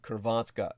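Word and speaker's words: Hrvatska: well croatia would be kervatska okay and uh of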